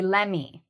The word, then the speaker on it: lemme: So let me is two words. Combined, we say LEMME, especially in conversation.